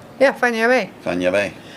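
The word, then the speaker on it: Fañabé: Or Not Fanabi. no, not Fanabi, because as you say, once you learn how to pronounce each letter, Mm-hmm. and Enya is just think of the singer Enya, which is what I always did.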